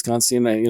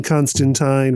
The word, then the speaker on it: Constantine: But the correct way is that John Constantine rhymes with wine, which is a line from a Swamp Thing issue, I believe.